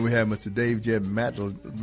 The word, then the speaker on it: Madlener: Dave Jeb Madlener. Madlener, okay, just like it's spelled.